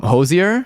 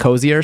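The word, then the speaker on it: Hozier: Um, Hosier, which I think is how we learned how to pronounce it on stream. We watched an interview with him and he said it sounded like Hosier, so that's how I'm going to say it.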